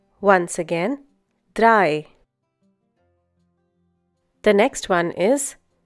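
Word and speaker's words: drei: end of words such as mats pots bits dry once again dry the next one is fear once again fear the pronunciation is similar to the English word fear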